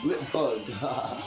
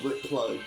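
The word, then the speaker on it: Blipbug: Oh, I said it wrong. Blip bug. See, I thought it was Blit Plug. Like a plug and a bug put together.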